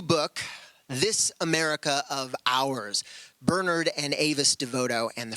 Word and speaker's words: Bernard: let me know that it's pronounced Bernard not Bernard the English way so I'll be saying